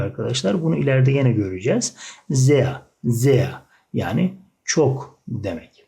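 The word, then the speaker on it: sehr: R sonunda olunca A şeklinde yuvarlanıyor arkadaşlar. Bunu ileride yine göreceğiz. Zea.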